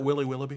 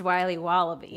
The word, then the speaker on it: Wiley Wallaby: Can I have a piece of that Willy Willoughby? Wally Wibbly. Wiley's Wallabies. Wallaby Wallies. Wilby Wobbaby. It's pronounced Wiley Wallaby.